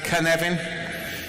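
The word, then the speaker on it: Cynefin: it can happen is a Welsh word it's pronounced Kevin Welsh is fanatic so it's easy to pronounce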